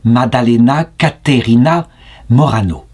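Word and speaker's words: Maddalena Caterina Morano: bienheureuse Madeleine Catherine Morano en italien ça se prononce Madalena caerina Morano pourquoi est-ce que j'ai commencé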